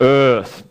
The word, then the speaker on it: Eaarth: This last book of mine, Earth with the funny title, to EAARTH, you have to kind of pretend you're Arnold Schwarzenegger to pronounce it correct, sort of Earth.